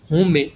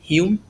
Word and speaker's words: Hume: Se escreve, né? Como se a gente fosse ler, né? Do jeito que se escreve, David Hume, mas não é. É David Hume.